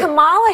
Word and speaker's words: Kamala: So pronounce her name right. Let me actually pronounce her name right. Kamala Harris. If Kamala. Kamala. You said this. We're not calling you Nancy. It's Kamala.